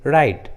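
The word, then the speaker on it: write: शुरू में रहता है, तब डब्ल्यू का उच्चारण नहीं करते, जैसे राइट, रिंग, रॉन्ग, रिस्ट।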